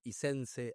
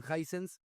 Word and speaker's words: Hisense: y era básicamente que la gente no sabía pronunciarla. No había gente que le decían Hisense, Hisense, Isense, Aisense. Creo que eran muy poquitos los que realmente le decían Hisense.